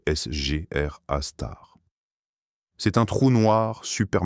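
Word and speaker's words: Sgr A*: Les astronomes l'appellent Sagittaire A étoile ou SR A étoile prononcé SR A star.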